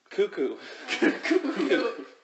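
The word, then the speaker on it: Kakko: I had to double check to see how on earth you pronounce it, but according to my sources, it's going to be Cuckoo.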